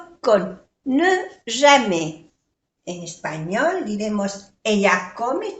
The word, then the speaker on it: jamais: Il ne va jamais au cinéma. Il ne va jamais. Entonces se pronuncia así, jamais. No se pronuncia la S.